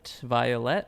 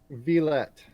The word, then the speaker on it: Villette: Yes, and today we are speaking with, is it Violet? How do you say the last name? Villette.